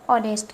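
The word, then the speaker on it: honest: एच है यहां लेकिन ये एच साइलेंट है। आवाज किसकी आ रही है? ऑनेस्ट की।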